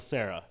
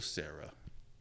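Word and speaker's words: Cera: yeah so Good Michael Sarah yep I've never understood why his name's pronounced like that isn't Sarah supposed to be s a r a English is weird or with an H at the end his last name is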